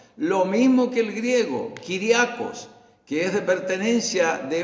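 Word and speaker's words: κυριακός: En el griego significa o se pronuncia Kyriakos, con K de kilo, Kyriakos, da la idea de pertenencia.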